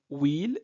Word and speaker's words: huile: Alors, donc, le mot will, c'est un nom féminin, un singulier, mais ce nom commence par un H muet.